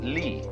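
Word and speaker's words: 理: shelves are rectangular but the Chinese have a word for order for the order of the universe which is this they pronounce it Lee now this sign has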